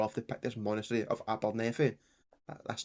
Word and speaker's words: Abernethy: I'm pretty sure that is pronounced Abernethy.